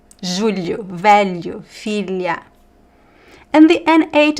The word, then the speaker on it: julho: The lh is pronounced more or less like l e It's trickier, but you have to just practice. Julho velho filha l l You kind of have to touch the tongue on your the top of your mouth and slide it.